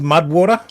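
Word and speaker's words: MUD\WTR: Uh but yeah, this is called Mudwater. Sorry. Mud/WTR. Oh, still in that pronounced mudwater.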